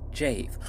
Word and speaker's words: Jave: he game still why I am well aware that his name is pronounced jave okay I said it